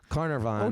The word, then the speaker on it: Carnarvon: It's Carnarvon.